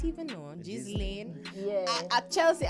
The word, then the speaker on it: Ghislaine: Ghislaine. I not even know. Ghislaine. Yeah. At Chelsea, I never call her Ghislaine, it's Ghislaine. I think the S is silent.